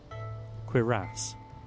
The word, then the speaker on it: cuirass: You want Cuirass. queer ass. Cuirass. It is now pronounced queer ass because I like it more.